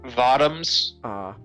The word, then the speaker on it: Votoms: armor Trooper voto or votoms cuz it's supposed to rhyme with bottoms but you know um